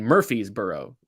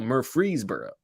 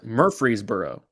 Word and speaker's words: Murfreesboro: a joke that's not you mean murphy's burrow like what is this are you misspelling this on purpose no mur freeze burrow okay no wait so wait so did i pronounce it incorrectly is it no you use murfreesboro yes okay yeah but